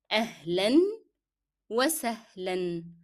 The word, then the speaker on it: أهلا وسهلا: أهلا وسهلا. You need to pronounce n, the sounds of n, the tanween in both words. It's part of the word.